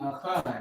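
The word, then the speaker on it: אחד: Instead of the word 1, all right, instead of the word 1, it would be achad.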